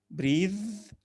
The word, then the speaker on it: breath: breathe breath نفس breath وتنطق ث، لكن breathe يتنفس ده verb وتنطق ذا.